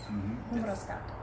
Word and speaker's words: Mbruscatu: Mbruscatu.